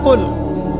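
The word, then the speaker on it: قل: কিন্তু আপনি যদি কফ এর মাখরাজটা ভুল করেন এবং কফ না বলে আপনি ছোট কাফ পড়েন এবং কুল না পড়ে আপনি পড়েন। বলেন যে কুলহু আল্লাহু আহাদ। তাহলে অর্থটা পরিবর্তন হবে।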